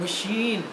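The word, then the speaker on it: machine: अब देखिए ये प्रोनाउंस CH है, आवाज इसकी आ रही है शाह। मशीन।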